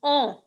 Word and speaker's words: on: It's not O, it's on.